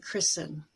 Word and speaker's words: christen: S-T-E-N toward the end of a word, like listen, or fasten your seatbelt, hasten, and christen.